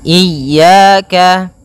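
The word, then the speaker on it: إياك: wa iyyaka nasta iyaka pada lafal ya ini hati-hati dalam pelafalannya ada dua kesalahan yang sering terjadi yang pertama yaitu dia memanjangkan Iya nah seperti itu harusnya dia ee ditekan dan dilembutkan iyaka iyaka nah kemudian jangan sampai dibaca panjang jangan iaka tidak ada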